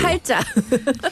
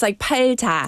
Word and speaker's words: 팔자: Korean word for destiny, palja, comes from this belief in saju. 팔자. Yeah, no, my pronunciation is No, bad. because it's written, it's 팔자. Yeah. But then the way we say it's 팔자라고 하잖아요.